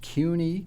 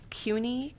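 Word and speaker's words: Kuehne: have just one bidder just one bidder it's cuny k-u-e-h-n-e k-u-e-h-n-e chemical company inc 86 north hackensack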